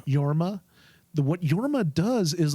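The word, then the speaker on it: Jorma: Sisu, the difference would I can't pronounce the actor's name properly. It's Yorma.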